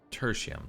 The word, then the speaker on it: Tertium: Tertium, that's how you say it, okay.